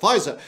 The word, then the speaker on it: Pfizer: Pfizer, to the downside.